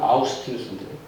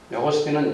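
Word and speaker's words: Augustinus: 영어로는 어거스틴이라고 하는데 원래 이름은 아우스티누스인데 어거스틴은 영어식 발음이고 하여튼 그 아우스티누스를 아시지 않습니까?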